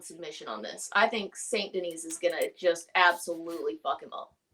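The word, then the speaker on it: Saint Denis: as good as uh St Dennis we're gonna that's how I'm gonna say his name I'm I'm pretty sure it's wrong St Denise St Denise my bad not here in America it's Dennis see that [ __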